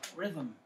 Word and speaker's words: rhythm: Rhythm. I forgot to spell rhythm. How you spell rhythm? No. Rhythm. I always get these two mixed up for some reason. It's the H is silent.